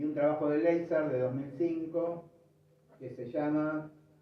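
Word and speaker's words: Lazar: que se llama así, yo la voy a pronunciar Leizar, porque la verdad que estoy tratando de ver de dónde viene. Pero bueno, para mí, o sea, como vive en el mundo anglosajón, es Leizar, ¿sí?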